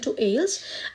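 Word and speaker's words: aisles: अलसो अलसो organised इन एल्स और दी एल्स मतलब ऐसे ऐसे छोटे-छोटे डिपार्मेंट इसमें हो सकते हैं गलियों को बोलते हैं वैसे customer can walks through Ds एल्स एल्स S silent है और दे कैन सिलेक्ट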